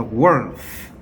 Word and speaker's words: worth: worth. worth. 자, th 이거 번데기 발음이 있죠. th라고 해야 되죠.